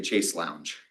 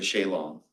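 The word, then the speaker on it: chaise longue: So the half chair is like, the American way of pronouncing it is a chase lounge. The British way is a shalong.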